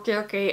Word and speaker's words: Circe: be the year where I read Circe, or Circe as I was taught to pronounce it at school back in the day, but yeah, let's just call it Circe to make it more easy, I guess.